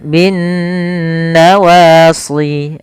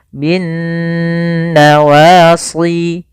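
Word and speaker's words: بِالنَّوَاصِي: atau mim berharakat tasydid cara membacanya yaitu suara nunnya kita tahan bin nawasi kesalahan yang sering terjadi tidak menahan gunahnya contoh binnawasi Wal aqdam nah ini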